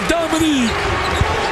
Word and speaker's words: Dominique: Dominique. That's not Dominic. It's Dominique.